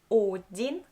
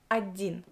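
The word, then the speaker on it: один: for you on Adin I write down Odin but I pronounce Adin I don't pronounce o i pronounce ah then the next example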